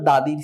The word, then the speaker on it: the: যদিও দুঃখের বিষয় আমার দাদি নেই, আমি তৈরি করতে পারবো না, সুতরাং আপনার দাদির সিভি আপনি তৈরি করবেন, মানে কারিকুলাম ভিটা।